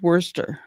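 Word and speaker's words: Worcester: um Wor Worester Main but it spelled like Worster Shire right and woresterhshire that's how it's spelled and um I said so how do they said it. He said, "Worster."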